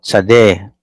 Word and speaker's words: tsade: So, tsade. Okay. Tsade. So, it's T-S-A-D because it is pronounced beginning with a letter T-S, no? T-S, like the Germans.